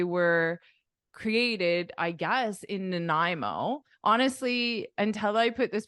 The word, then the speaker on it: Nanaimo: Nai Nai and then the beginning is like unstressed so it's like a no uh Nanaimo nanimo Nanaimo do you recognize the